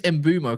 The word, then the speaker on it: Mbeumo: And apparently he's who's embumo cast.